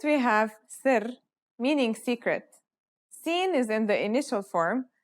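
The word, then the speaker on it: س: let's start with scene scene sounds just like the English s it's very easy to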